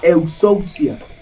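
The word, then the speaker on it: ἐξουσία: En griego, autoridad se dice exousia. Se lo deletreo. E-X-U-S-I-A. Exousia.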